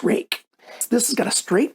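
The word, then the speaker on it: Ruike: They pronounce it Rake. RakeKnives.ca is a company that I was buying them from, but you can also get them from White Mountain Knives. And they told me how to pronounce the name. So it's pronounced Rake.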